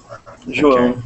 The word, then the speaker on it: João: So, is it Joa? Joa? Am I pronouncing it right? Joa Jr. João. João Júnior. Jojo? In Portuguese, is in Portuguese language.